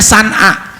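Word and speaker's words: صنعاء: Maka kata Nabi, nanti Allah pasti akan membagikan agama ini, mengembangkan agama ini hingga merata dari mulai Son'a, tulisannya Son'a, bacanya San'a, itu adanya di Yaman, kota namanya Son'a, sampai ke Hadrul Maut, ya, sampai kota Hadrul Maut.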